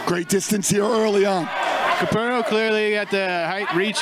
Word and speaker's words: Capurro: Capurro. Capurro, sorry. We owe him that. We spelled his name wrong on just about everything and got it right about, I think, yesterday. Andrew Capurro. Capurro. Double R, roll it.